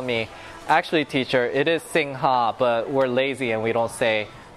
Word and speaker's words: Singha: Because it says Singha, but they say Sing. I don't know how to say it. Usually when I say it the way it's spelt, there's gonna be some guy who's been living out here for like 10 years that will correct me and say, no, that's not the right way to say it. The Thai say it's Sing.